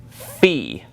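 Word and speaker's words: Φι: iepsilon we have the letter Fe okay now this is one that we don't have in English but it's basically the F sound or the ph sound uh it's just a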